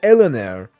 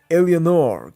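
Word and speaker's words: Eleanor: At the end of Bioshock 2, Delta sacrifices himself to so Elanire or as the right pronunciation goes, Elenor can escape.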